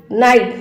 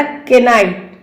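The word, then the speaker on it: knight: के बाद एन अगर आता है, जैसे कि knowledge, knee, knock, knife, नाइट, नॉट अ केनाइट, केनाइट। ये तो नहीं पढ़ा मैंने, के क्या हुआ यार, साइलेंट हो गया।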